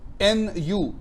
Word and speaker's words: nu: so poisson's ratio is a number called new n u it is the roman italic version of n